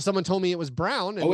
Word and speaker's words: Brown: Oh well, I mean, a lot of people doing the phonetic of Braun. Yeah. Well, that's what I thought it was until someone told me it was Brown.